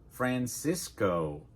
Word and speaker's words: Francisco: Now, let's start with that Explorer himself, Francisco Coronado Francisco Coronado, so we'll start with Fran /ae/ like in "apple" /si/ /i/ like in "fish" /Co/ "Francisco" Remember in English when we make "o" our mouth forms and "ooh" at the end.